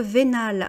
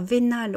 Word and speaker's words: vénal: Être vénal, alors vénal on met un E quand c'est pour le féminin, mais ça se prononce exactement de la même manière.